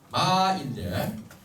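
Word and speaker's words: 妈: 그래서 요거를 발음할 때는 마인데 5에서 5로 발음을 합니다. 1, 2, 3, 4, 5단계 소리 정도에서 마 이렇게 이 소리를 낸다는 겁니다.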